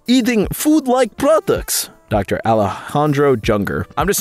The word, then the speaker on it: Junger: Alejandro Junger. I'm just saying, man, this guy might be trying to get world hunger to happen. His last name is Junger. That's no coincidence. It rhymes with hunger.